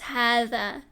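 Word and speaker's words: هذا: So essentially, it's written differently to how it's actually pronounced. And I've never actually had a student say hadha ever, even though the alif's not there, because everyone just knows it's hadha.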